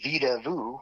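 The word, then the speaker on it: Vedauwoo: In between Laramie and Cheyenne, there's a place called Vida Vu, which is spelled Vida Wu, which directly translates to Playground of the Gods.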